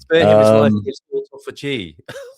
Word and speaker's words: autophagy: Autophagy is Yeah. And you pronounced it correctly. Thank you. Sounds like a lyric bohemian rapsid. That's right. Autophagy.